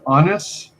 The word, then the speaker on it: Annas: special guest today uh is it pronounced honest yep that's that's brilliant thank